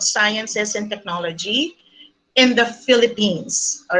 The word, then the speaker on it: Philippines: and Technology in the Philippines. All right. So I would like to reiterate on the pronunciation of my country. It's Philippines, okay, with an S.